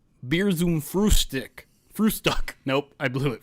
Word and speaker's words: Bier zum Frühstück: Here's how you pronounce it. You're not going to be able to hear it, but the chat will. Bier zum Frühstück. Bier zum Frühstück. Bier zum Frühstück.